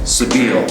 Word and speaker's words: Sebile: and that is that it's pronounced Sabeel you uncultured swine now to tell you